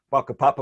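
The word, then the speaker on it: whakapapa: maori concept of papa spelt with the wh they're pronounced with an f baka papa which is the maori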